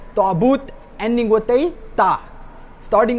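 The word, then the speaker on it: تابوت: And if you open Surah Baqarah, ayat number 248 today, you will see it says Ta'but ending with a ta and not Ta'buh ending with a ha.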